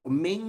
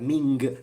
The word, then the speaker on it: Ming: the ming dynasty okay so ming is or should i say mean because the g is not pronounced i'd like to underline in in mandarin chinese um when you have an n and a g the g is mute and it's only used to make the n nasal okay so if